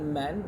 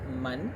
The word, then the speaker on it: Man: It's like Man, but in Malay we pronounce it as Man.